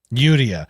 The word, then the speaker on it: Yuria: One of the things that's kind of common in Japanese is a lot of times the R's have kind of a D sound, which is why when